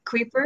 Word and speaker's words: Kuiper: about uh creeper right do you pronounce it correctly creeper yeah that's okay that's quite